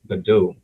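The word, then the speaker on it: Godot: very fun to use called the do but it's spelled g o d o t funny word wow I'm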